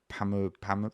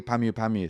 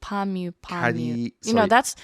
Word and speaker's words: Pamyu Pamyu: remember puffy yes daddy Palmilla Palmilla how do you Pamyu Pamyu sorry friends have just massively angered now they're all angry at me for mispronouncing her name don't worry you're not